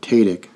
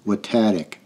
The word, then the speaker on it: Watatic: mountain throughout this recording I have mispronounced the mountain with tatic however it should be pronounced watatic I appreciate if someone